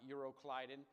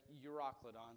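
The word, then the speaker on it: Euroclydon: Called uro Ladon and I looked up the pronunciation of this one quite often uh and everyone said it you was uroon not euroclidon or yadone or whatever it was uroon so that's what we're going to call it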